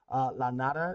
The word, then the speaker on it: La Nada: La Nada is what it's pronounced as or called.